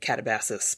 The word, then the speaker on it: Katabasis: are dirty Yanks, so we will say Katabasis because that's how it's pronounced in America.